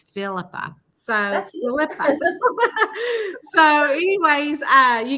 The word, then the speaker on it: Phillipa: we're full see I'm going to get your name wrong it's it's Philippa so so anyways uh you guys I told